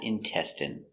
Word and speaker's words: intestine: good next we have intestine so remember the INE is pronounced in in intestine one intestine two intestines